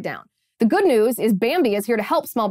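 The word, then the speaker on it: Bambee: whole world upside down the good news is bambi is here to help small business owners implement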